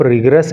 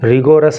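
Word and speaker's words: rigorous: सालों के लिए, ऑफ रिगरस इम्प्रिजनमेंट। इस वर्ड के प्रोनाउंसिएशन पे आप ध्यान देना, इसको रिगोरस नहीं पढ़ते हैं, रिगरस इसको पढ़ते हैं, और इसका हिंदी अर्थ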